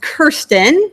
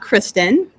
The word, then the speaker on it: Kirsten: my fellow science Communicator Kirsten are you ready okay so my name is pronounced Kirsten not Kristen on the ship I